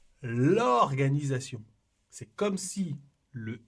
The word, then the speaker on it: l'organisation: Et ici, c'est la même chose. On dit l'organisation. C'est comme si le L était collé au mot. On ne dit pas j'aime l'organisation.